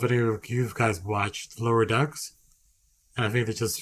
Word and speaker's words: Lower Decks: I mispronounced one word and it comes at me. No, Lower Decks.